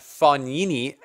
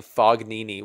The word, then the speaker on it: Fognini: I saying that right I was roasted in the comments section by you guys for saying Fognini which is how it would be pronounced if you're like Canadian hoser like me but apparently it's like instead of saying f OG like fog Nene it's funny knee so right Fabio Fognini